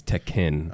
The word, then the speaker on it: Tekken: still mispronounce it. What is it? It's Tekken.